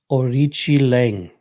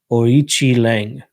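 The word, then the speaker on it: Aoriqileng: Orichi Lang. All right. That Q definitely doesn't sound like K.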